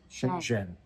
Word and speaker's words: Shenzhen: Shenzhen. You got to get your new hometown pronounced correctly.